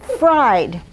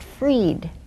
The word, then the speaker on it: Fried: oh um fried and that's what our children got called all through school they got called fried chicken and fried potatoes but our name is pronounced freed so this morning when